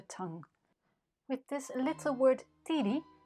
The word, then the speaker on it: tiri: with this little word titi the accent falls on the last syllable the d is short and the is long the ring must therefore